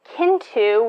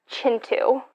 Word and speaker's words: Kintu: through that and um then i am reading kintu which is just like my basic i'm reading a book physically which no it's actually pronounced chintu and this is like a multi-generational family saga